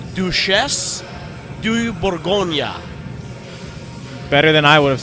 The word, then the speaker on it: Duchesse de Bourgogne: the beer actually so I've been told by people that know that it's do chefs do you Bourgogne better than i would